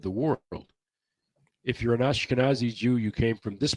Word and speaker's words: Ashkenazi: There are the Anakasazi, I think, or I don't know. Ashkenazi. Ashkenazi. I can never pronounce that. Ashkenazi.